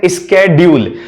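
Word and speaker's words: schedule: स्केड्यूल। अब इसको कुछ भी बोल दीजिए, स्केड्यूल बोल दो, शेड्यूल बोल दो, दोनों ठीक हैं। स्केड्यूल अमेरिकन है और जो शेड्यूल है वो ब्रिटिश प्रोनाउंसिएशन है।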